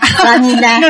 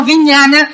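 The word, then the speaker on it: viññāṇa: Rupa, Vedana, Santara, Sanya, Sanya, Santara, Vanya, Vanilla. No, Vinyana. Vanilla.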